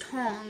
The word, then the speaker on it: Tang: dynasty, which is actually, it looks like it's Tang, like, but it's actually pronounced Tong. That's how they pronounce it here.